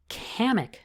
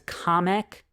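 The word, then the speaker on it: Kamek: a playable racer now they pronounced his name as comic to me he's always been kamik so he's gonna be kamik sorry guys but I think Nintendo's wrong on this one he's gonna be kamik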